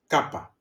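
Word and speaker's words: κάππα: Kapa c like kite.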